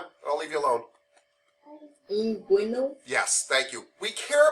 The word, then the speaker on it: inguinal: It is tough because I cannot pronounce it. Do you know what it starts with? What letter? I. Yes, that's the inguinal region. Huh? Inguinal.